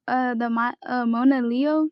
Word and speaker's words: Monaleo: Oh, I wanted to talk to you about Monaleo. That's how you pronounce her name.